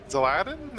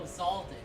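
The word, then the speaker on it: Xaldin: Um Zeladdin. Is that how you pronounce it? From Kingdom Hearts 2. Oh, Zalden. Zalden. My bad.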